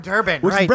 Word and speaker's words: Durban: something where are you durban you're from durban that's the brownish brown color purpose rhymes with turban you know that that's